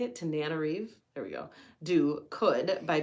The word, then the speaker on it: Tananarive: Tananarive?